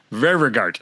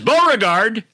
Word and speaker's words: Ververgaert: "How do you say it?" I said, "Ververgaert." He says, "Beauregard." "Dennis Beauregard has scored for Vancouver."